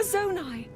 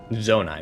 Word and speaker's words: Zonai: similar to the statues we saw earlier a zonai zonai that's how you pronounce it figures look like hylians were they